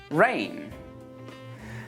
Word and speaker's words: reign: Let's move on to the letter G, and we don't pronounce this letter in words like campaign, assign, design, sign, reign.